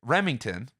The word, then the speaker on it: Remington: what he's referring to is an artist Frederick Remington that's how you say his name who who's